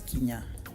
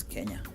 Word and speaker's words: Kenya: For people who read it as Kenya, it's not. It's Kenya. K-A, Kenya.